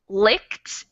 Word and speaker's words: licked: most different one and this one is a commonly mispronounced word because it looks pretty similar to the these other words we have this e which makes us think that maybe this is a long i sound but it's not so this word is